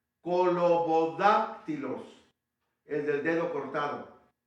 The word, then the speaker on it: colobodáctilos: Colo con K, bodá con B grande, bodá, acabándola con una K, bodac, Y luego tilos, con Y. Colobodáctilos, el del dedo cortado.